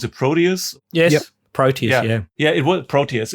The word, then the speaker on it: Proteus: How do you guys pronounce it? Proteus? Yes. Yep. Proteus, yeah.